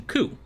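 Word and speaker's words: 九: The number 9 and the word pain also share the pronunciation ku.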